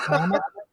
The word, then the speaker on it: Klamath: Yeah, well, Mike, tell Johnny how to pronounce Klamath Falls. Klamath? It's Klamath. Okay.